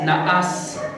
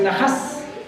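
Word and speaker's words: נחש: en en hebreo es naas así lo traducen en el español naas con h en la pronunciación en hebreo es nahas nahas es la pronunciación correcta vamos a ver cómo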